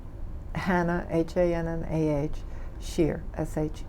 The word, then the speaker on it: Shear: that we have also the correct spelling and pronunciation of your name Hannah Haan and aah shear sh e ar now you were how old